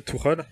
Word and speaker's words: Tuchel: Donc déjà, si ça vous dérange pas, je vais le prononcer Tuchel. Je préfère.